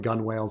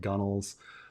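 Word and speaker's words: gunwale: I pronounced it gun whales before. I guess it's supposed to be gunnels. Even though I think originally, historically, it was gun whales and it became gunnels.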